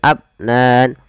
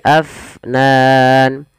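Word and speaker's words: أفنان: kemudian padafal Fa AF alirkan nafasnya jangan abnan tapi Afnan kita coba ulang daw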